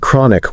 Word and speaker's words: chronic: Definitely words like chronic with that ch sound pronounced as k not ch as in chair.